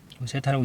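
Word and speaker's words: θ: 각이 기준인데 자, 요 각을 우리가 이제 세타라고 하면 세타라고 읽으면 돼요.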